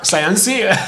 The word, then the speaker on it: Sayansi: And then we found, you know, this is super easy to pronounce because Swahili is like Spanish, no? You say things exactly the way you write them.